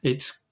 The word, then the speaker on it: Io: have an atmosphere um it's i think what would what would be the killer for humans walking on on i or eo as it's sometimes pronounced is um the radiation